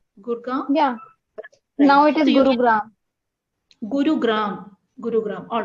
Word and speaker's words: Gurgaon: I'm not saying comparing Kerala is it correct pronunciation gurgaon yeah now it is all right yes so